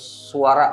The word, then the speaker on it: Svara: dia ada rexus daksaara tulisannya SV a r a jadi bacanya sebenarnya bacanya suara gitu aja sih kalau